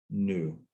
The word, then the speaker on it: nu: equals rho times nu okay oh this is pronounced new okay you know uh i wish i had